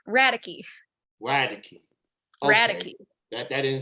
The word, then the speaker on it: Radecke: okay everybody butchers it it's radice like radical but with an e radicky radically radically that that